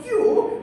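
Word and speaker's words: queue: So he put Q, UE, and another UE, which had no impact on how Q was being pronounced. And they made it into a Q without changing anything there.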